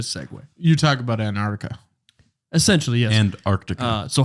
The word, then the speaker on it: Antarctica: how to say it you said Antarctica which is correct and I said anarctica oh the north cuz